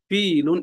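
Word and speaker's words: فيل: কাক ফাতে ফিলুন ফাতে ফিলুন টান আছে টান দিতে হবে ফিলুন একটি হাতি ফাতে ফিলুন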